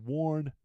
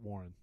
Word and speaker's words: Warn: yeah more winches yeah so worn not Warren wench winch get my